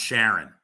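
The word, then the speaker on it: Charon: punk uh the shade Karen or often pronounced Sharon fed the dead across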